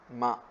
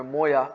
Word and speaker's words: ماء: لیے استعمال ہوتا ہے ماء، جس کو عام طور سے اس کو عام عربی لہجے میں مویا لوگ کہتے ہیں، جو کہ اصل لفظ ہے ماء، پانی۔ بارد کا معنی